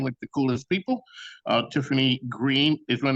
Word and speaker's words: Greene: Tiffany Greene is one. That's Greene with an E, but the E is silent.